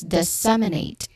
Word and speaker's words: disseminate: soft sound, and then you end it with Nate, which has a diphthong A, like a date. So this the you say this as disseminate. Again, disseminate. Stress the second syllable sem.